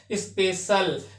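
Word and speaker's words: special: सी का प्रोनाउंस सा से हो रहा है, स्पेशल।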